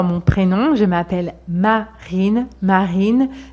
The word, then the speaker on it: Marine: prénom je m'appelle Marine marine c'est très léger marine il y a une petite vibration mais elle est légère on ne dit pas